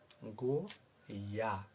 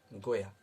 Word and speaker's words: गोया: मैंने इसका उच्चारण इसलिए किया कि अक्सर लोग अंत के अक्षर को, शब्द के अंत के अक्षर को गलत सुन लेते हैं, समझ बैठते हैं और वह कुछ और बोलने लगते हैं, इसलिए मैंने इस शब्द